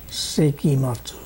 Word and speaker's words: Sekimatsu: Sekimatsu. S-E-K-I-M-A-T. You know, Japanese names are easy. Just pronounce every syllable and you got it.